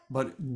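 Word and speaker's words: p'i: a b that's uh P apostrophe I pronounced B with with a B sound and you would it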